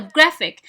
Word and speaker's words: graphic: okay, so graphic. so the stress in the first syllable.